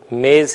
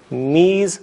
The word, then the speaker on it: میز: است، یہ میز ہے۔ آپ نے غور کیا ہوگا کہ میں نے میز کو فارسی بولتے ہوئے میز تلفظ کیا ہے۔ میں اس کرتا چلوں کہ جدید فارسی میں وہی فارسی جو آج بولی جاتی ہے، یائے مجہول موجود نہیں ہے۔ یائے مجہول جسے ہم